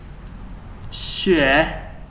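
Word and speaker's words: 穴: Okay, so this Chuan is basically made from two other radical signs, and the first one is known as Xue. This is the radical sign which is pronounced as Xue.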